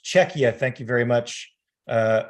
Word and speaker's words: Czechia: to see you on the panel it is pronounced czechia it's pronounced czechia thank you very much uh for that um